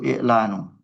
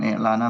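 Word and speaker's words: إعلانُ: Yaitu i'lanu. Kita bacanya rofa. Bukan i'lana, bukan i'lani. Karena dia fa'ilun marfu'un bidom.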